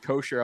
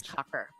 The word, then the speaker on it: Coker: Robin's like kosher. I'm like, don't try to church it up, Robin. All right, just pronounce it the way it sounds, all right? Jesus. Cocker, Coker, Kocher. It's Cocker. Not Joe Cocker.